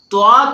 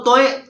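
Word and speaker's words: طاء: بلکہ ضاد پڑھنا ہے۔ توا کو توئے پڑھ دیتے ہیں۔ یاد رکھیے توئیں زوئیں وغیرہ جو ہے یہ بھی اردو لہجہ ہے، اردو تلفظ ہے، تو جب ہم توئیں یا زوئیں پڑھیں گے یہ غلط ہو جائے گا، لہٰذا ہمیں توئیں زوئیں ادا نہیں کرنا بلکہ توا زوا پڑھنا ہوگا۔ قاف اور کاف میں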